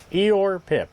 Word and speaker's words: Eijor_Pip: And this is Oh, that's how you pronounce it. Eeyore. Eeyore Pip.